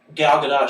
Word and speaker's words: Gal Gadot: No, on Jimmy Kimmel, she pronounced it herself, and she says more emphasis on the T.